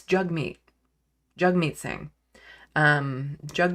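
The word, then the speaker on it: Jagmeet: he said you know think jug like hug and actually yeah that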